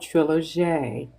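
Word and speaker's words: trilogie: recently published which is called trilog is the French spelling and the French pronunciation of Trilogy and within this is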